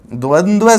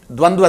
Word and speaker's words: द्वंद्व: सबसे पहले तो बात करें, इस समास के उच्चारण में भी हम कई बार खामियां बरत देते हैं। द्वंद्व, बहुत सी बार हम इसका उच्चारण इस रूप में कर देते हैं जो कि अशुद्ध है।